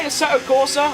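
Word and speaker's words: Assetto Corsa: We play a Setto Corsa. I haven't played a set of Corsa competition. That's how you pronounce it.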